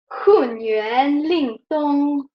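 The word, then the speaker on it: Hunyuan Lingtong: It sounds more beautiful. It's like this. It's like a way, right? HunYuanLingTong. I'm overreacting, just that you can hear, but I will pronounce it again, and then we do another circle, okay?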